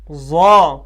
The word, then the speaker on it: ض: ضا، یہ تھا طا، یہ ہے ضا، نہ یہ ذال ہے نہ یہ زا ہے اور نہ زاد ہے، یہ ان تینوں سے الگ ہے۔ ضا ضا، جیسے یہ طا پڑھا ویسے ہی ضا ضا۔ تو یہ 7 حروف